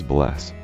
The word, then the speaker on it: bless: or daughter daughter 13 hello and Icelandic is pronounced Hollow thank you is talk yes is yah no is nay goodbye is bless 14 the most common men's names in Iceland